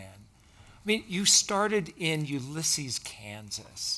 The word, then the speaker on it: Ulysses: I mean, you started in Ulysses, Kansas. It's Ulysses. Okay. Ulysses, okay. Everybody mispronounces it. Like, yeah. Ulysses S. Grant, okay?